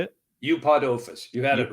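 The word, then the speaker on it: Eupodophis: Eupodophus.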